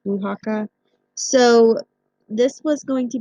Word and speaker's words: Oaxaca: located in a little place in Mexico called Oaxaca it looks like it says Oaks akka but it's actually pronounced punakha so this was going to be the kind